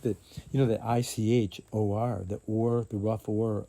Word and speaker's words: ichor: Time will be when ichor, it's the itch. How you pronounce it.